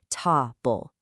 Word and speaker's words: table: But in table, that heavy strike hits right at the front, ta-bull. That natural vocal emphasis, that is the raw material of poetic rhythm.